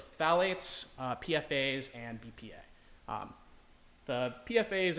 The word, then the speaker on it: phthalates: Phthalates. Valley. Oh, hell yeah.